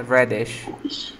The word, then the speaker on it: radish: Ya, se escribe radish y se pronuncia reddish.